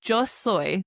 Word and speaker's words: yo: You say joy. Now, it's literally written jo y o soy. S o y like soy sauce is the best way to remember it. So, joy.